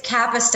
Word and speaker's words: Kapusta: Pronounce it for me. I tried 3 times. It's Kapusta, and it's all good because I'm still thinking about those adorable puppies.